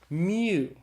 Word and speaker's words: mu: Mu. Mu is the M sound in Greek, so it's pronounced like the M in mother.